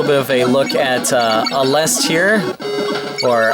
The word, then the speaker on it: Aleste: But just want to show you guys a little bit of a look at Aleste here, or Aleste as it's pronounced here in Japan.